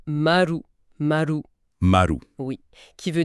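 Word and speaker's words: まる: Mais à l'oral, le zéro se prononce très souvent marou.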